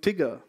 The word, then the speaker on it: TGIR: that and recently we've also launched something called tigger it's pronounced a sticker it's spelled as tgir and